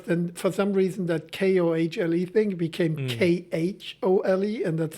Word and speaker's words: Kohle: In the Netherlands, they say Kohle. Okay. Meneer Kohle. Kohle. In Germany, it's Herr Kohle.